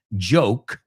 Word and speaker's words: joke: And this is no joke, which is a word that people usually mispronounce and say yolk. O sea, el error. Muchos españoles a la hora de hablar inglés pronuncian la palabra joke, chiste, como yolk, yugo o yema de huevo.